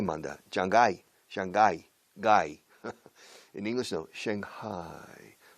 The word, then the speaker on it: Shanghai: Shanghai. La H manda un poco aquí. En español la G manda. Shanghai. Shanghai. Gai. En inglés no. Shanghai. La G casi no se pronuncia en medio.